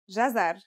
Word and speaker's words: jazar: it out loud it should be easy it's pronounced jazar and means carrot the gym is connected to